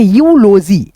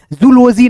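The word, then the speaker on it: eulogy: वाई इसको क्या पढ़ेंगे इ यूजी क्या पढ़ेंगे यूलोजी यूजी जूलॉजी नहीं ठीक है दोस्तों यूलोजी चलो यहां पे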